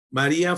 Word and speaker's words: María: Uno no dice poeta, muy poeta, sino poeta. Es un hiato.